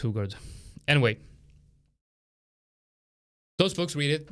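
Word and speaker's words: Hougaard: loser wins by Tom hogard hugard I'm Swedish I should know that it's pronounced hugard anyway those books read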